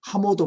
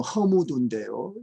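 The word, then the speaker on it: 河姆渡: 이 하모도 문화, 중국 발음은 허무두인데요.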